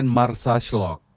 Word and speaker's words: Marsaxlokk: Terletak di pesisir tenggara Malta, desa nelayan Marsaxlokk, diucapkan Marsaxlokk, adalah tempat di mana tradisi hidup dalam warna-warna cerah.